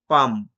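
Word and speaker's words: palm: পাম, এলটা silent রইল।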